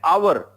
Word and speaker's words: hour: P are head but when you say an hour H is silent over here it is the sound